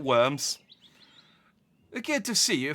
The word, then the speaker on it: Worms: the countryside near worms that might be pronounced vomes but I'm going to call it worms we're good to see